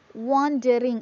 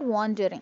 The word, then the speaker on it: wandering: Wandering, it's not wandering, it's wandering.